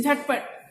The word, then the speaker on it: झटपट: चार वर्णों वाले शब्दों की दूसरी और अंतिम व्यंजन ध्वनि हलंत उच्चारित होती है।